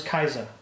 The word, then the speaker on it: Caesar: No, we pronounce it wrong. The C is a K in Greek.